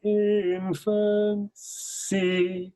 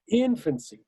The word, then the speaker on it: infancy: The 3rd syllable of infancy lands on a beat. This child now weak in infancy.